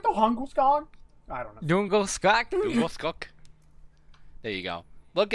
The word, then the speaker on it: Djungelskog: It's like it's a Djungelskog. Oh, yeah. No, that's not how you say it. Yeah, Djungelskog. That's how they pronounce it in the world.